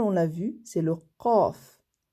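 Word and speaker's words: ق: Et la finale, on l'a vue, c'est le qaf. C'est une des lettres gutturales qui se prononce en fait beaucoup avec la gorge. On la sent au niveau de la gorge.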